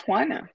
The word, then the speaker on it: Juana: hanana and Lucas chapter one my name is hanana it is spelled j UA n a and it's pronounced